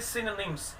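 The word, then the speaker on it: synonyms: की साउंड देता है इधर, तो उसको बोलेंगे सिनोनिम्स। Exact pronunciation of this word सिनोनिम्स।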